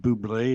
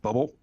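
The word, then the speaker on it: Bublé: Well, if his last name is French and it's spelled B or it's pronounced Bubé instead of bubble, then why isn't his first name pronounced Michelle?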